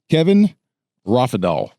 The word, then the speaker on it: Kevin Rofidal: of Minnesota and also the Lodge 6 president, Kevin Raphael. Right. Yep. I pronounced that correctly.